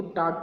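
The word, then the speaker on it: talk: बातें करना, तो यहाँ पे देखिए L की स्पेलिंग यहाँ पे L यहाँ पे क्या है? साइलेंट है, तो बोलेंगे इसको टाक पढ़ते हैं, टाक।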